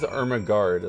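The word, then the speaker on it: Ermegarde: it's probably my guard it is armaguard like it's spelled ermegaard e-r-m-e-g-a-r-d-e but still that's amazing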